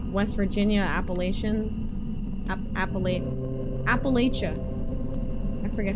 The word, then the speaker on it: Appalachia: Especially in like West Virginia, Appalachian Appal Appalachia. I forget how you're actually supposed to pronounce it.